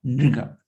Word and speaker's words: नृग: थोड़ा प्रोनाउंस करना आसान नहीं है, नृगा। नृगा जैसे कृष्ण, नृगा री री।